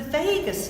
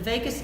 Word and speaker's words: vagus: into cranial nerves the vagus nerve is the longest one and it sounds like Las Vegas but it's spelled slightly different and it's fast as